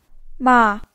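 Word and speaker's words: 吗: it into a question ma is pronounced in a neutral tone in such a case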